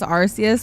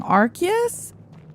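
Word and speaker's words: Arceus: Technically, it's with a K. What? What's with a K? You're kidding. Archus. It's Archus. It's supposed to be Archus.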